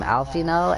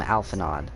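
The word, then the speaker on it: Alphinaud: people will call him Alfino, and then other people will call him Alphanod. And I used to pronounce it Alphanod, but I guess both are valid.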